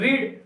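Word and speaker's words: read: पढ़ना आता है रीड रीड की सेकंड फॉर्म क्या होती है रेड ए भाई पढ़ते इसको रेड है लेकिन स्पेलिंग इसकी वही होती है जो ओपन की फर्स्ट फॉर्म भी और थर्ड फॉर्म भी होती है ओके राजू रेड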